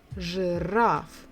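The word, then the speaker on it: жираф: will be rough giraffe two syllables the stress is on the final syllable giraffe okay again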